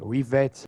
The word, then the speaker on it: Rivet: Riven in the subtitles I thought you would say rivet like rivets but it was the wrong way to pronounce it it was actually rivet when I played it